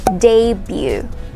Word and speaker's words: debut: word and that is pronounced as debut debut not the boo okay we don't say the boo we say debut debut say it all